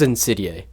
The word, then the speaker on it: Insidæ: This is Insidæ, and yes, that is how you say it.